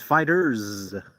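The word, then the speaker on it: FighterZ: I believe, Kenneth, I believe it's pronounced Dragon Ball Fighter Z, though. Okay, good. Because I thought the developers were they made a statement. They said, it's fighters.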